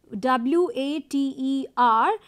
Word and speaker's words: water: So, for example, if you are saying water, W-A-T-E-R, you don't have to pronounce r in that way. And you say water and not pronouncing the r, or you are not taking up into consideration.